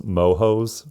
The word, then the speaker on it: moho: of church call themselves mohos for Mormon homosexual. I totally forgot about that. That did not age well. No. Also, the word moho with the silent H in Spanish means mold.